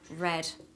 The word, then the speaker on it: read: the past simple it's the same spelling but the different pronunciation so here we have read and here we have red like the color okay same with the